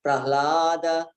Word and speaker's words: Prahlada: So it's sometimes it's sang Prahlada, but it has to be Prahlada. So pra is also a heavy syllable, and you have to give it some time. You have to give it some weight.